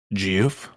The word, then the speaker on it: GIF: Up, Another fellow GIF. Always. What's that? GIF? I'm a GIF. Great to see. Oh, my apologies. I do believe it's pronounced Jiff, sir.